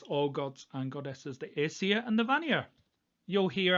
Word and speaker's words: Aesir: The majority of people today follow the Aesir and Vanir. That's Northern English pronunciations there for you. In fact, everything I pronounce is Northern England. So the Aesir and Vanir, I will talk about these in another video in detail.